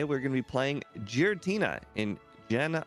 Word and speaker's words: Giratina: Today, we're going to be playing Giratina in Gen 1. Hopefully, I said that right. Giratina. You were close. Okay. Yeah. Actually, Giratina.